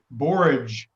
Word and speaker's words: borage: us we are drinking borage tea today hey Bo are a GE garage boys I save garage but I'm sure it's probably correct either way yeah I try to make it rhyme with porridge so you know or